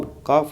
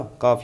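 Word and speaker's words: calf: काफ होता है ना, काफ या कैफ भी, कैफ प्रोनाउंसिएशन होती है वैसे इसकी, ठीक है।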